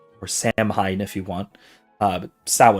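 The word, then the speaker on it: Samhain: the Celtic Festival of saan or samine if you want uh sa if you're if you're actually pronouncing it the Celtic way um there is no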